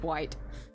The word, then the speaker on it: White: Ellen White, so it is White. Because I saw the Y, I didn't know if I was meant to pronounce it as, you know, the I-ite.